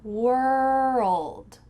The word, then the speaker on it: world: World, world. It kind of sounds like W-O-R-U-L-D.